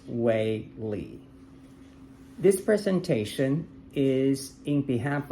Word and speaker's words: Wei Li: And my name is Wei Li, spells as W-E-I as first name, L-I is last name, and pronounced as Wei Li.